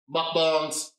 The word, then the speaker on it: mukbang: people who watch, how do you say it, mukbang, mukbang?